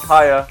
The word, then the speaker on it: H4Y4: It's pronounced Kaya and not H4Y4.